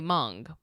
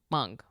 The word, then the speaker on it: Hmong: Think of it like pingpong but with an M. Okay. Mong. Mong.